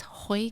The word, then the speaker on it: Joy: And you probably didn't notice that it was a soft J, and you guys have been pronouncing it wrong the whole time. Completely wrong the whole time. How do you feel about that? Well, it's not even Yoy, it's Hoy, kind of like Spanish-ish. See, even I got it wrong.